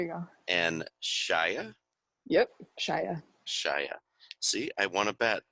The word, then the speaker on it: Shia: Yep, Shia.